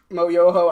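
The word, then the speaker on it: Schmoyoho: do you guys know mo Yoho Accent on the o the guys who do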